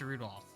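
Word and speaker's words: Rudolf: on it's just anyways this guy's name is pronounced rudolph oh okay that's that's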